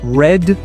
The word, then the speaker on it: read: So in read we have this long vowel e and in red we have the we have the sound e.